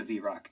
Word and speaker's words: vrock: what the Z Rock yeah what is a vrock uh irvis what was in that book you